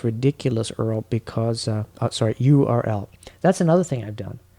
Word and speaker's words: URL: under like this ridiculous Earl because uh sorry URL that's another thing I've done shows my age I pronounce URL Earl yeah that's okay I do that too too